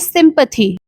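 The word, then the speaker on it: sympathy: सो नाउ the next word is सिंपैथी। एस वाई एम पी ए टी एच वाई सिंपैथी। एस वाई एम से निकल कर आता है सिम। पी ए टी एच वाई से निकल कर आया है पथी।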